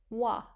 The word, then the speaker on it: は: Tasu 足す、 plus hiku 引く、 minus wa. は、 Wa uses the ha hiragana but is pronounced wa.